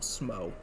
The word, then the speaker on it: Smough: Or, not Smough, Smough. Smough's how you're supposed to pronounce Smaug's name.